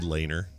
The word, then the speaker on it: Lehner: It's probably Lehner. I don't know. Or Leonard, yeah. Leonard, yeah. The H. It's like Lehrer, McNeil Lehrer. Oh yeah. You don't pronounce the H.